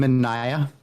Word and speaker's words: Mineya: great creative stuff that you can think of Mana I believe that's how you pronounce it I'm sure people get it wrong um um can you introduce yourself to the audience hello yes um I'm manah um so you did get that correct that's